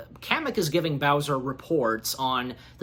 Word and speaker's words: Kamek: Am I pronouncing that right, Kamek? Kamek. Kamek, thank you.